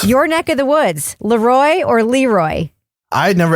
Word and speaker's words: Le Roy: it is right it's people who were trying to be fancy calling it looy right no I'm going with looy have you seen how it's spelled h yeah how's it spelled how is it spelled l e space r o y Leroy it's two words L Roy doesn't matter Leroy Leroy yeah I'm with I'm down